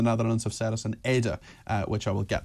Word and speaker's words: Ede: It is two syllables, as Ada and not Edith.